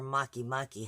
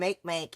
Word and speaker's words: Makemake: attention to is how maiya and make or Makemake however you pronounce it technically are both also in Libra